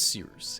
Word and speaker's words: Cyrus: view at your discretion my name is cyrus it's spelled like cyrus pronounced like sea rooster just take out the tur thank you very much